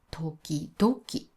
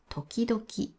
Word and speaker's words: 時々: これも時期ドキという人が多いです。でも日本語にはたたたはありません。この場合はた友達と一緒で、え、トキ同キターです。